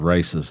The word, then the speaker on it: RACES: but it's spelled races like car races.